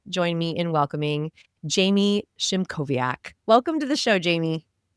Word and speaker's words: Szymkowiak: Please join me in welcoming Jamie Shimoviaak.